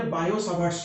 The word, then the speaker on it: Biot-Savart's: is Biot साभाट्स लॉ किंतु pronunciation कला एटा को जे बायो साभाट्स लॉ टीटा कौन हो जाए ओमिटेड हो जाए प्रोनाउंसिएशन में ओके बायो साभाट्स लॉ बोली कह जाए तो सी ताको